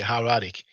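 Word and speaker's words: hieratic: friendship pronounce it that's how many times I go how reactic but you just say her attic in uh in English so here we have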